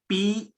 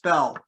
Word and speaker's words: Beall: The man I'm going to talk about, his name is John Yates Bell, B-E-A-L-L. So it looks like Beall, but it's pronounced Bell.